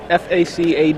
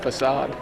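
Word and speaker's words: façade: yeah there's no it's it's FAC ad isn't that the word you're saying I think it's pronounced facade I think one of us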